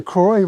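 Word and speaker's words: Croix: And he he came from a little town called Milltown on and I don't know how to pronounce this. C R O I X river. Croy Croy.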